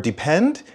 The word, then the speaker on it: depend: help either you can depend on me learning these as set phrases will help you avoid making mistakes the stress in the word depend is on the end depend depend and listen carefully for